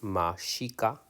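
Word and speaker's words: Mexica: this color okay diaz's call themselves tamishika pronounce mashika a name from which mexico is arrived so meshika mexico the term aztec means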